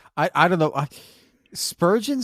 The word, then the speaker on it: Spurgeon: I don't know I Spurgeon sounds like it should be the name of like a character from SpongeBob SquarePants you know like it rhymes with sturgeon so it's after Charles